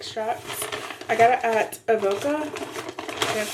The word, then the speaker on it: Avoca: I got it at Avoca.